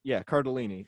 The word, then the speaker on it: Cardellini: Cardellini.